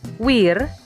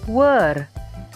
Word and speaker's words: wear: kabel taukahkamu kata kedua disini seringkali dibaca Wir atau where padahal cara bacanya adalah Where where artinya adalah save